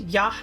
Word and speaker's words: Y: The Y tribe, pronounced Yah, and meaning Jaguar, are